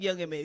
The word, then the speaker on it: Young M.A: I keep calling her Ma for some reason. It's spelled that way. It's no like Right. dot in Young the middle of it.